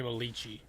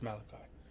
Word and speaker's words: Malachi: Is that how you say it? I always want to say Malichi. It's Malachi. Seems like it's not spelled right.